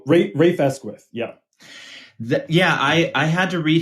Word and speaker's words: Rafe Esquith: One thing I was impressed by, and I'm not sure how to even pronounce his name, but is it Raf Esquith? Oh, Rafe Esquith, yeah.